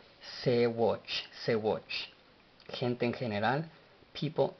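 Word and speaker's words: ሰዎች: palabra, la cual es Sewatch. Sewatch, escrita S, S, W, O, Sewo, Ch, CH, Sewatch. Sewatch. Ahora Sewatch en letras en español sería Sewoch, y no lleva pronunciación de vocal la CH.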